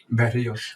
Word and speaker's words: Berrios: Berrios.